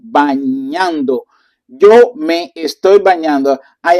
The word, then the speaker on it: bañando: And remember the pronunciation with the ñ. So we did that in our first lesson of for the vowels of the pronunciation bañando.